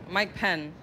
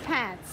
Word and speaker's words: Pence: It rhymes with Pence. Pence? Mike Penn. Pants. It is Pence.